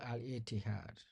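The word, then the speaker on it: الاتحاد: That's called Al Ittihad.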